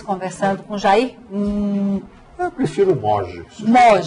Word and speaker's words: Moggi: Eu prefiro Moge. Moge. Pronuncia Moge.